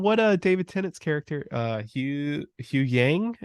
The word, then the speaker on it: Huyang: I mean, from what David Tennant's character, Hugh Yang, if I'm saying that right, I don't fucking remember. I really want to say it's like Hyung, but I could be wrong. Because I don't remember saying Hugh Yang. It's spelled Huyang.